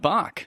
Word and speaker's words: Bach: Good pronunciation of Bach. Well, because Canadians know Sebastian Bach who was the lead singer of Skid Row.